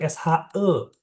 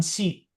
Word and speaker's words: 是: Nah, terus SHI, SHI itu dibacanya SHE, Rian. SHE. Jadi bacanya bukan si, tapi se.